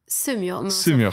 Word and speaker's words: Semur: Donc Adeline Chetaille, t'es comédienne de doublage, née le 26 mai 86 à Semur en Auxois. C'est comme ça que ça se prononce? Semur. Fiche. Ah, Semur, ok.